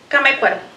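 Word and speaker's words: Camécuaro: Camecuaro. Could you say it again? Camecuaro. Could you please spell it?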